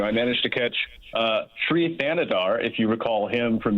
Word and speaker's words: Thanedar: Thanedar.